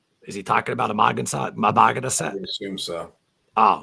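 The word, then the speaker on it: Amagansett: It's pronounced actually. It's said individually. So that'd be Amagonset. Amagonset.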